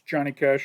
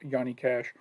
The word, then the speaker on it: Johnny Cash: in the states it's johnny cash over here it's pronounced the j is pronounced like a y in in europe that just cracked me up to hear yanny cash i like nine inch